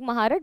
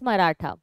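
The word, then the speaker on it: Mahratta: or marata okay like if you write it in English it looks like maharat but the pronunciation the real name is marata so quer and marata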